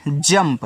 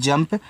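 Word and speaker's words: jump: देखो इसको पढ़ते हैं जंप तो यहां आपको यू का उच्चारण नहीं करना है तो जैसे आपका यहां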